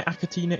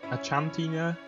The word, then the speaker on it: Achatina: So I'm pretty sure that's how you pronounce them anyway, Achatina. According to Google Translate, it's Achatina. It says Achantina, Achantina, Achatina. Either way, there's something like that.